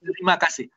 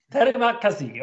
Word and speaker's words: terima kasih: Or hopefully I pronounce it in a correct way, terima kasih. Yes, you're right. Thank you very much. Terima kasih. Terima kasih.